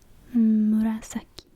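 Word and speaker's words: 紫: requirement um and how you say it is Murasaki um yeah Buddha isn't really a good mnemonic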